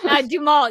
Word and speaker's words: Duhamel: that I know how a last name is pronounced. This, I'm glad. This is my moment. Duhamel, yes, that is correct.